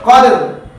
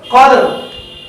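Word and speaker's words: قدر: কদর, কফ দাল র জবর কদর। দেখুন লাস্টের 3টি হরফ একসাথে উচ্চারণ করবেন এবং কলকলা যেন সাথে থাকে। কফ দাল র জবর কদর, কদর, কদর, কদর।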